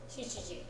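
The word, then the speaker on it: 七時: Shichiji, 7 o'clock. shichiji, 7 o'clock. shichiji. 7 o'clock. 7 o'clock, Shichiji. 7 o'clock, Shichiji. 7 o'clock. Shichiji. Notice that it's always shichi, not nana here.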